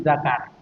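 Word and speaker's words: ذكر: Ini bacanya lzakari wal unsa. Meskipun tulisannya sama kadang apa kayak gini tulisannya zikri. Ini bukan zikir tapi zakar.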